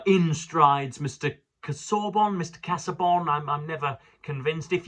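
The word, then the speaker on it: Casaubon: I've heard intellectuals call him Cassorbin, but I prefer Cassabon. That's what I would naturally say.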